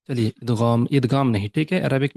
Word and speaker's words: إدغام: تو نارملی ہم ادغام بولتے ہیں، لیکن اس کا جو عربک میں پروننسیشن ہے، تلفظ ہے ادغام. غین زبر ہمیشہ غو. ٹھیک ہے، تو ادغام ادغام نہیں.